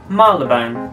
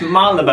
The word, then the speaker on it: Marylebone: This is a part of London, and it's Marylebone. There's a Y there! There's a Y! It's Mary! It's Marylebone.